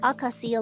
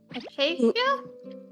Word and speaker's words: acacia: Are these aasia logs yours? What? Aasia logs. Acacia. Oh, I don't know how to pronounce it.